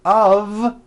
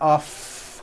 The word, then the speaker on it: of: word Liberty of Liberty you see of is voiced here's another example it's made of glass or it's made of wood it's not off would with an unvoiced F it's all voiced and it's all connected it's made of wood like that very good okay now